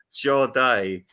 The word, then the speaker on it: Sade: Sade. Is it Sade. Sade? Sade.